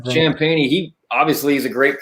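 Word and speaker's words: Champagnie: Champagne. Champagne.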